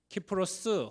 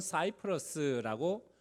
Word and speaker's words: 키프로스: 키프로스 혹은 사이프러스라고 발음하는 그런 섬, 바나바의 고향에 처음으로 선교의 여정을 떠나 지금 현재 터키 남부 지역을 돌아보는 1차 선교 여행을 다녀와요.